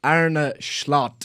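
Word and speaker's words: Arne Slot: told rapidly by my Dutch followers that it's AR a schlot schlot ara schlot like a true May man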